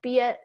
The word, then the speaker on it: Biet: so excited to have bia here am i pronouncing your name right yes it's yeah like juliet yeah awesome i'm so